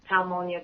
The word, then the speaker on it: Palmonia: My name is Palmonia. How I like to help people to remember my name. I say Pal like friend, Monia like pneumonia, but I'm nicer, and